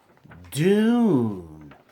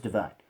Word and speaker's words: DVNE: void kind by Dune as it's pronounced last time I talked about them I was a little trouble because I didn't fully cuz initially I thought it was divine but just without an eye but it's should